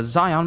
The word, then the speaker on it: Zeon: hideout in the Ze Zion mine or Zeon mine cuz it's it's spelled exactly like Shion but with a Z from our hideout in